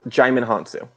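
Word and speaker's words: Djimon Hounsou: and matthew mcconaughey just making sure it is pronounced jaime hansu okay yeah and uh who better repeat mark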